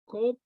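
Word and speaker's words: Qop: We pronounce it kop. It's in the throat.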